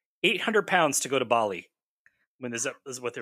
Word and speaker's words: Bali: It's that they're adding R's where there aren't any with these British people when they pronounce things. Bali, like, yeah. Well, they kept saying barley.